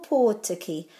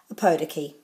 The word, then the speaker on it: Ōpōtiki: today for oppo teki so you've got two o's with macrons so they're o and or and then tikki o tikki or poor tikki not as it's commonly pronounced a podiki or poor tikki or